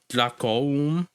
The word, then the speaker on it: Dlakoum: So you put that emphasis on the U. Dlakoum.